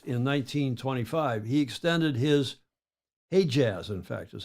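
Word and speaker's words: Hejaz: a more Jaz in 1925 he extended his he Jaz in fact is how they pronounce it he extended his Arabia in 32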